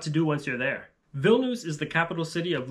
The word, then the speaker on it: Vilnius: And by the way, in English, people often will say Vilnius, which is fine in English, but in Lithuanian, it's pronounced Vilnius.